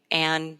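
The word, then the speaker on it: Anne: which is my name an janzer Ann silent e janzer decom um and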